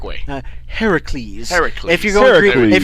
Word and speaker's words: Heracles: Heracles. If you're going Greek, if you're going Greek, it's Heracles. If you're going Roman, it's Hercules.